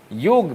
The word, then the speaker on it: योग: हम ऑस्ट्रेलियाई और अफ्रीकी लोग गलती से योगा बोलते हैं योगा बोलना चाहे तो छोटा बोले ग आई नहीं रोमन लिपि में लिखना चाहिए तो चलिए योगा ठीक है पर उच्चारण योग ही रहेगा तू मने कांग्रेस ने